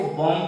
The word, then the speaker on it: bomb: उसी तरह से BOMB, यदि आप लिखते हैं इसको बॉम्ब नहीं पढ़ के इसको बॉम्ब पढ़ेंगे आप, क्योंकि एमबी लास्ट में रहेगा तो बी साइलेंट हो जाएगा।